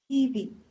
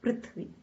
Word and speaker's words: पृथ्वी: And this is Prithvi, not Prithvi. Prithvi. So, Prithvi Sasya Shalini. Prithvi.